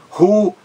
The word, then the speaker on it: ruído: Forma um hiato, o I numa sílaba isolada. Ruído, ru-i-do, tudo correto aí.